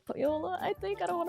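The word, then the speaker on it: Pohjola: went through the gate of Poyola, I think is how I said Pajola, but then people corrected me. I think it's Poyola, which is fine. I'm okay being corrected with like pronunciation. But I think it's like Poyola.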